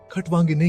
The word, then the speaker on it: खट्वांगिने: खटवांगिने का उच्चारण खटवांगिने की तरह किया जाता है, जिसमें दे अन्नामी पपर बीकअप किल जोर दिया जाता है।